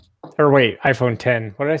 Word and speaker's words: iPhone X: Yeah, well, I say so because I know when I say iPhone X, my wife looks at me like I'm a complete asshole and then lets me know that I'm, saying it wrong. So I think it's iPhone 10.